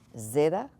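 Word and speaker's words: ζῆτα: form of the letter Zeta this one is kind of really like think of gadzooks or in the word adds plural of add ads so you've got that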